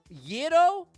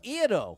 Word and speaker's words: gyro: So, to be clear, is it gyro or iro without the Y? It's gyro with a softer sound at the start. Think of it like the beginning of the word year.